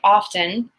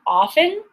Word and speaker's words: often: and in this case the T can be silent or it can be pronounced it's really interesting I swear both are correct and you know when I say often it's not a mistake